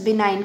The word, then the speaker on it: benign: BENIGN, इसको pronounce बिनाइन करेंगे.